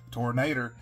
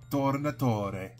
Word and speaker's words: Tornatore: Little bonus for you, I just looked up how to pronounce the director's name. Giuseppe Tornator. It's Tornatore. Giuseppe Tornatore. But I'm just going to call him Giuseppe Tornator because I'm a rude American.